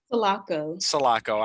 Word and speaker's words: Solaco: and then thai prescott salah salacco did i pronounce that i mispronounced that solaco i'm sorry ty prescott